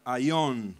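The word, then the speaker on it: αἰών: el griego es la palabra ayón con acento en la y ayón la palabra y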